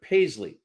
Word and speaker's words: Paisley: okay because it's uh like Pace Ley if you phonetically do it but Paisley all right I'm going